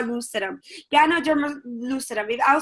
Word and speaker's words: Ganoderma: out for you because when I first started I was like what can a dermal what it's Ganoderma g a and o de RM a Ganoderma more than two thousand